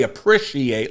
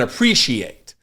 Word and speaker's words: appreciate: mispronounce uh appre appreciate I say appreciate like an with an I rather than appreciate um for a long